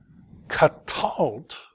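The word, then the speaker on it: קָטַלְתְּ: Katalt, so two silent schwas together, you just say it as if they were like that.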